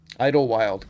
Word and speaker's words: Idlewild: Idlewild. Got it. Idlewild. Yep. I thought that's how you pronounced it.